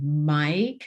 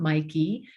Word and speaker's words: Mike: Mike, so they've learned these letters, and the E is silent. It's not Mikey.